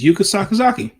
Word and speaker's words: Yuka Sakazaki: It's Yuka Sakazaki. I don't know why I want to pronounce it something else and I've pronounced it 29 times on this channel.